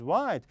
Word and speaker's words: white: yes excellent this is white so we have white white again here we pronounce the letter W but not H H is silent so sometimes w h